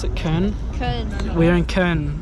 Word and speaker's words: Köln: We are in, how do you pronounce it? Köln? Köln.